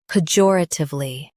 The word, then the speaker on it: pejoratively: P, jor, tiv, li. Pejoratively. Stress jor and keep p soft.